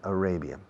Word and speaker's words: Arabia: Fijaos en la pronunciación de Arabia. Array. Saudi Arabia.